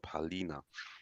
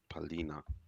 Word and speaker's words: Palhinha: I tell you how to spell it, Don P. Yeah. PALHINHA. Yeah. Oh, okay. Oh, Palina. Yeah. Palina.